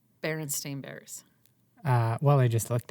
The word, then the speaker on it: Berenstain: It's the way you think it's spelled, which is the E-I-N, which would be like Berenstein, Bears, right? And in my head, that's how it was always pronounced as a kid.